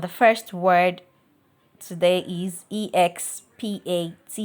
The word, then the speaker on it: expatiate: And the first word today is expatiate, expatiate, expatiate, not expatiate. The root word is not from expand.